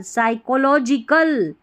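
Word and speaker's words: psychological: silent है तो साइकोलिकल साइकोलॉजिकल मो एम ओ टी आई टी V aviation motivation देखिए साइकोलॉजिकल फिर से बता दूं ए एस वाई इसको साई पढ़ा है पी साइलेंट है को सी एच ओ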